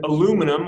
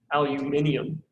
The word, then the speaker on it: aluminium: And then aluminum, or if you want to say it correctly, aluminium, and if you want to just sound fancy, right?